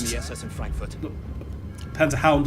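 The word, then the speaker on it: Panzerhund: Panzerhound, I should say, not Panzerhaust. Quick.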